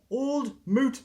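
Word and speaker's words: Old Mout: thought I'd try this old moot cider that's how you pronounce it Kiwi in line this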